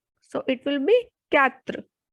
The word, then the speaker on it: quatre: 4 is quatre, quatre, because QUA has sound ka, ka. So it will be quatre.